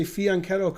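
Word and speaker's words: fianchetto: gets mad intermezzo fiance so you see fion like a y fion and then keto not Shadow terrible I'm the only American who can say fiancado correctly and even then I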